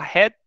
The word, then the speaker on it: headache: Aqui a gente fala headache. Ache. Então seria headache. Ok, obrigado.